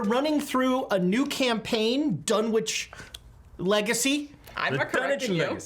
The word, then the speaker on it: Dunwich: It's Actually, Dunwich. no, they don't. Dunwich. It's the teleprompter person who types it in Phonetically, yeah.